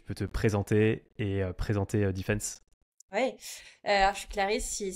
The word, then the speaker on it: Dfns: Alors, moi, je prononçais tout le temps DFNS avant que j'aille sur la page Welcome to the Jungle et que je vois que ça se prononce defense.